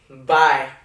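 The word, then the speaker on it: bhai: Bye. Like, it's like goodbye, but it's spelled B-H-A-I.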